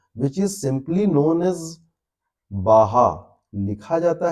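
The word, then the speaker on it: Baja: बोलते हैं, दे प्रोनाउंस, वहां के लोग इसे बाहा प्रोनाउंस करते हैं बट लिखते हैं बाजा।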